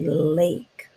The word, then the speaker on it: lake: long sound or if you did not have this e over here it would say lac but we don't want to say lac we want to say lake so you make your